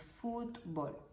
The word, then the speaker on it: fútbol: un poco esta palabra fútbol es una palabra de dos sílabas en cuanto a la pronunciación nosotros nos pronunciamos fútbol así que te voy